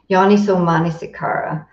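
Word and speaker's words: yoniso manasikāra: There's an accent on the second last A. There you go. Yoniso Manasikara.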